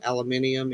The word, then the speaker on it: aluminium: It is aluminium. Here's to say it That's how our it's- way, and I cannot do it. So aluminium, it shall be. That's how it's spelled. And that's how you say it is aluminium.